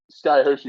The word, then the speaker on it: Skye Hoshi: It's spelled behind it if you're looking at it. If you're not, Skye Hoshi, it's exactly how it sounds.